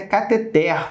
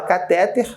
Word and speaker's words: cateter: de baixo fala presta se você pensou o cateter errou o correto é cateter falou cateté é a sílaba tônica aqui ó catheter aqui é sílaba tônica eu sei que meio mundo fala cateter mas tá errado beleza a correta catheter